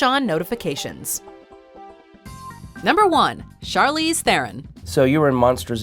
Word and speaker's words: Theron: heroine no just there you've probably heard thier own at some point but Charlize pronounces her last name like this Theron immediately recognizable as Imperator